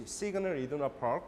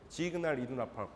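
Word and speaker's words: Signal Iduna Park: The kind of German pronunciation, and usually in English, Siegner Iduna Park, but the German pronunciation is Siegner Iduna Park.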